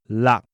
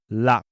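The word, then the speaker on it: 六: 6 is pronounced lak. Yes, lak.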